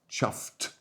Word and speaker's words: chuffed: Now pronunciation is dead chuffed. chuffed with a t on the end.